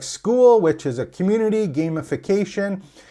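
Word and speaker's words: Skool: And School, kind of like, just like the word is spelled properly, S-C-H-O-O-L. This one's S-K-O-O-L.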